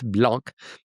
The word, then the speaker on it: Blank: That's why it's not pronounced blank. It's blanc.